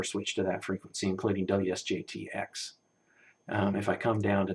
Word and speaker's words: WSJT: So we'll fire up good old WJST, kind of arrange things so we can see all of them at once. I don't think I have anything covered up here. And WSJTX, WSJT, I keep saying it wrong, I think. WSJT, I maybe even had it in my diagram wrong.